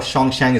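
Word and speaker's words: Xuanzang: China, अभी थोड़ा confusion लग रहा होगा, शोंगशैंग इसको पढ़ेंगे हम, जो स्पेलिंग आपको यहाँ दिख रहा है शोंगशैंग, इसको आप याद रख लीजिएगा।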